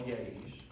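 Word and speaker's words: Yé'ii: On the side here, you see 6 holy people, what they call yays. And we call them yays, but the Navajos, it's 2 syllables, it's yay.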